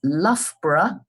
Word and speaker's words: Loughborough: So the place name is Loughborough, and I'll spell it for you.